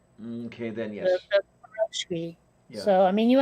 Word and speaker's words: pierogi: It says here, okay, the stress in pierogi is on the last syllable.